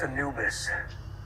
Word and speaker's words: Anubis: ship was hit it's called the Angeles it's pronounced Anubis Egyptian god of the dead that's what Miller